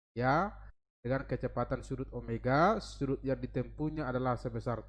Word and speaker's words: omega: Ini omega ya, bukan W, omega bacanya.